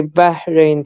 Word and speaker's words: Bahrain: But I know how they pronounce it. They say Bahrain, so it's like basically in your throat.